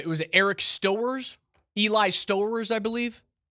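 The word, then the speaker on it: Stowers: Eli Stoers, I believe. Mhm. I like the St. Clair tight end out of Ohio State. or sorry, Eli Sters. Sters is rhymes with Bowowers.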